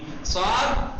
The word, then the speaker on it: ص: جی صاد سین کی طرح تلفظ ہوتا ہے، فقط صاد میں آواز جو ہوتی ہے وہ پرحجم ہوتی ہے، بھری ہوئی. تلفظ وہی ہے.